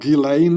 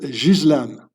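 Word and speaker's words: Ghislaine: It's so her name is not Gileain or whatever you pronounce it. It's a French name. You pronounce it Jizlan.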